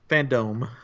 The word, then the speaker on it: Fandome: So DC Fandome. So They weird to say. I don't know. They just said fandom, but it's spelled with an E because it took I place thought in some a people dome.